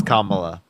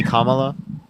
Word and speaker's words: Kamala: you're pronouncing it wrong you realize she's Indian Kyle I promise you it's Kamala okay so can you can you say commala no I'm going to